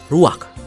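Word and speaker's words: רוח: Kata dalam bahasa Ibraninya adalah ruach. Ruak? Ya, benar. Tenggorokan kita harus benar-benar bersih di akhir pengucapan.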